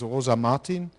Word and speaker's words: Rosa Martin: Now we go up to a peer-to-peer system, and our last speaker is Rosa Martin. Is it correctly pronounced?